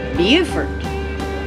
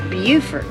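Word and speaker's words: Beaufort: ball soer and Boer it's bufort looks like bordt but it's bufort is how they pronounce it so uh anyway we're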